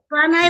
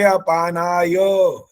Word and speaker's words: अपानाय: फिर आपने पानाय बोलेंगे आचार्य जी, इसमें ए लगाएंगे, ए नहीं लगा। वायवे अपानाय, ये एक ही आवाज आ रही है बार बार, ये नहीं बोलना होता।